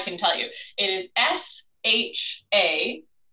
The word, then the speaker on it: Shachi: tell you, it is S-H-A-C-H-I. So I tend to say that as Shachi, and I have heard that as sort of the most common pronunciation, but again, it's S-H-A-C-H-I.